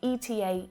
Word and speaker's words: ETA: and written english but when you pronounce it out loud you pronounce the three letters e t a i could call you